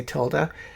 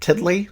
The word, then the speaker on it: tilde: that's the tilde key i often mispronounce it tiddly so when i say tiddly just know that i'm mean to tilde key if i want to